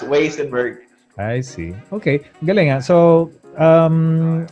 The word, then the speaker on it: Weissenberg: great so that's why it's supposed to be vasenburg because it's german but because of um